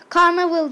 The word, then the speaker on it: Carnival: Bugün karnaval çekiyorum. Ada ben sana yaptım mı? Bir trolleme oldu. Tamam, özür dilerim. Başlıyoruz. Adı karnavaldır bilmeyenler için. Karnaval, canaval diye yazılır. Karnaval diye okunur.